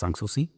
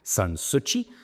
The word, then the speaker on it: Sanssouci: And as a matter of fact, we were at the Schloss Sanssouci, but actually how my wife said it, she was a Sanssouci. If they're pronouncing it wrong, Sanssouci.